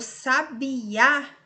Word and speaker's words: sabiá: Agora, o sabiá, a última sílaba é a tônica.